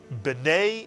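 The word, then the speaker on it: בני: And when a shva comes at the beginning of a word, it is pronounced I, as in the English word fish.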